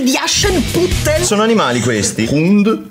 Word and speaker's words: Hund: Hund è il cane. Hund. Hund. È la D questa. Sì, ma si legge T.